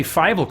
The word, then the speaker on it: Fievel: Francisco Ruiz says, heads up, if you ever want a text-to-speech program to say Fievel correctly, spell it Fighval, because I know everyone was dying to know.